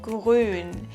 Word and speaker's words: grün: Apropos grün, the color grün.